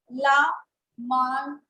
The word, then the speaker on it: La Marseillaise: The name is La Marseillaise. Double L is again silent.